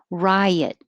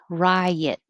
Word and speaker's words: riot: common sensual sensual 31 riot riot and that's different than right which is a single syllable right insurrectionist insurrectionist 33